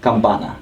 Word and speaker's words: Campana: So as the leader, I'm gonna correct you in the way you pronounce the word. I know, I understand. Say the word Campana. It's Rancho Campana.